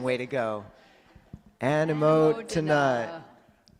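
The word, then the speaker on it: anumodana: We've said sadhu too many times, so we're going to do anumotana. That's our other way of saying way to go. Anumotana.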